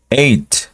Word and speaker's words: eight: no es tan complicado vamos a omitir la la H como si no existiera obviamente no no no